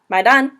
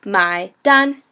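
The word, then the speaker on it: 买单: my pen my pen and Don which kind of sounds like d o n n but it's really d n so my done my done so third tone and first tone the next one is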